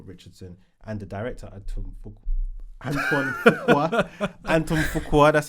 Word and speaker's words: Fuqua: Yeah, but he's worked on loads of films with Robert Richardson, and the director Antoine Fuqua, that's how you say it.